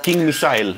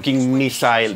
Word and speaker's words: King Missile: ver hoy día es King missile o king mile Mel como depende los ingleses lo pronuncian distintos nos vamos a ocupar